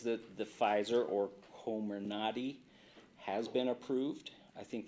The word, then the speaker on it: Comirnaty: FDA says that the Pfizer or Comirnaty has been approved. I think that's how it's pronounced. That with a C? Comirnaty, yeah.